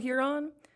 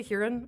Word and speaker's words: Huron: We've been finding the perfect summer stops all across the state, from Don't Spill the Beans in Huron. I always have a debate. Do you say Huron or Huron?